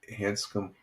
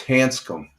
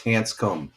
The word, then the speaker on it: Hanscom: No, it's Hanscom. Hansum is spelled H A S C O M. Air Force Base. There it is. That's That's how you spell it. Hansum field. It's Hanscom Air Force Base. It's not Hanska. Hansa. It's Hanscom.